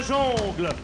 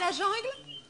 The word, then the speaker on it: jungle: Je connais la jongle -Pourquoi dites-vous jongle et pas jungle ? -On prononce jongle, Diana. -Mais on ne dit pas mesclon.